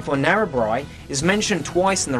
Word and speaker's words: Narrabri: to point out that it's not pronounced Narrabri, it's pronounced Narrabri. You know, rhymes with by.